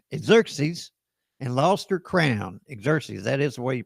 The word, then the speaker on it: Xerxes: Xerxes, that is the way you pronounce that.